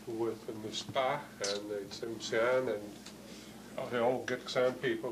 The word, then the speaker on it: Tsimshian: called in our way Tsimshan, Tsimshan. They call themselves, they pronounce it a little bit differently, as Tsimshian, Tsimshian, Tsimshian, or Sian.